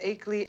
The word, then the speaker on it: Achelley: Aley. Mrs. Aley, Mrs. Aley, Mrs. Aley. Even if her New York accent was dropping the R sound, she pronounces the R in 30 and 4 a second later.